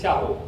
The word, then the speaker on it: Shahu: And the descendants of Mir Shaho Khan, also sometimes pronounced Shahu, but it is Shahu.